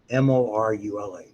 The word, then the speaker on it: morula: Zygote, when it gets to 16 or more, so after the first roughly 4 divisions, it's called a morula. M-O-R-U-L-A. Morula or morula, however you want to pronounce it.